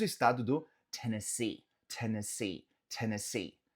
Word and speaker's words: Tennessee: Nota que o som dos E's nesse estado varia. Então no começo fala T, T, T, T. O segundo E se fala um N, Tennessee, Tennessee. E os dois últimos E's se fala C, Tennessee, Tennessee.